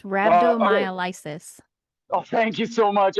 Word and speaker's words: rhabdomyolysis: It's rhabdomyolysis. Oh, thank you so much. I was trying to remember how to pronounce that.